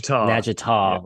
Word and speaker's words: Natchitoches: How do you where Northwestern State located? Natchitoches. Yeah. I know we butchered that so many times.